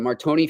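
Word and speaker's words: Martire: Sacred Heart from what's it the Marton family Marton is that how you pronounce it yes yeah the Marton Family Arena uh really looking forward to seeing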